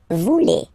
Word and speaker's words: voulez: Same thing here, classic ending EZ for vous, but then you pronounce it et. Vous voulez.